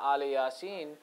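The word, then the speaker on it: آل ياسين: it says, Salamun ala Ali Yasin, the way we read it currently is it's pronounced Salamun ala Ilyasin. Ilyasin and Ali Yasin is the difference of where we put the dash.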